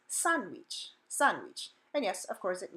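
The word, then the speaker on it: sándwich: it's not pronounced sandwich the letter A says ah in Spanish so the first syllable is son son not San and the second so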